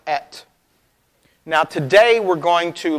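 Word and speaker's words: את: And it's pronounced et.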